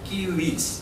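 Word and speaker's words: civis: ইংরেজিতে সিভিস বলে এটাকে। গ্র্যাটিন উচ্চারণ হবে কিউইস।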